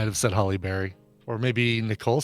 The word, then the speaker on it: Halle: it fast do it do it the right way Barry it's Halle Berry see Halle Berry it kind of it